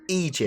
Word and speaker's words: Aegis: Aegis Dynamics, commonly mispronounced as Aegis, but it's not from the Latin, it's from the Greek, and therefore AE is E, rather than in Latin it would be A. So it's Aegis. Aegis.